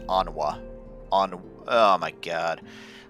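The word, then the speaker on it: Honoroit: Honroit, which is pronounced Onwa.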